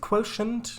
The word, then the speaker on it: quotient: Is it quotient? It's apparently pronounced quotient.